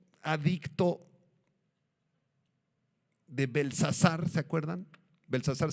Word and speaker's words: Belsasar: de belsazar se acuerdan belsazar sin té belsazar porque Daniel era belt sasar pero el rey belsasar